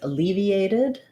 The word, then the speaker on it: alleviated: to know about so letter a is going to say the uh sound it's unstressed because my main stress is on leave and